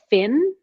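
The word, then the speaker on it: Phyn: yeah um and it's a device called fin it's spelled p-h-y-n and it's just it's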